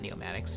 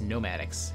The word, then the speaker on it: Nomadics: get it Institute for Applied neomatic no nomadics not neomatic nomadics have I been I've been mispronouncing that I think maybe um